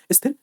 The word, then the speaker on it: स्थिर: स्थिर और अस्थिर जैसे मैं बोल बोल रहा हूं स्थिर अस्थिर ऐसे इनको बोलो सा का उच्चारण नहीं होता।